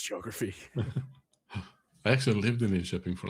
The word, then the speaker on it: Linköping: So So this is I tried to pronounce the word the name of the city. Linköping. Linköping TV. Come Yes. on, Linköping? Linköping, yes.